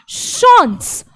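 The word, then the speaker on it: chance: भाई इंग्लिश वाला चांस ही है, वो बोलते ना कि आपका चांस अच्छा रहे, बेस्ट ऑफ लक, बस इसका बोलने का प्रोनाउंसिएशन बदल गया, बॉशॉन्स। चांस ना बोलकर हमने बोला शॉन्स, शॉन्स।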